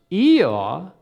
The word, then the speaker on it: Eeyore: Therefore, in Milne's mind, this word would be pronounced Eeyaw, which to Milne sounded much more accurate for a donkey sound than hee-haw.